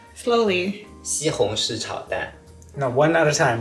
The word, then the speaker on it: 西红柿: 西红柿炒蛋， Slowly. 西红柿炒蛋。